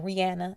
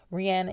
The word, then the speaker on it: Rihanna: point it seems like rihanna or rihanna as she pronounces it correctly rihanna is about that legacy